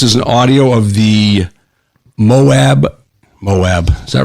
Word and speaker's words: Moab: This is an audio of the Moab, is that right? M-O-A-B? Yeah, Moab. I pronounce Utah Moab.